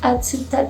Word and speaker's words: Atsuta: Well, that's how I call it, but in real it's Atsuta Shrine. So difficult to pronounce, but yes, Atsuta Shrine, that I call Katana Shrine.